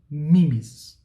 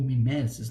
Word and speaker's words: mimesis: Ora, arte para os gregos ela é sempre considerada como mimesis ou mimesis, né, como vocês preferirem a pronúncia.